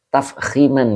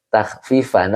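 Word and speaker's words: تفخيما: Yai baca takhfifan. Oh, Masya Allah, ini gimana matanya gitu ya, Masya Allah. Pak Hadi Waluyo, Time Iswar minta maaf ya. Kadang begitu, mulutnya maksudnya tuh itu, tapi kok bacanya yang itu ya, yang lain. Oke, siap. Ya, yang betul tafkhiman ya.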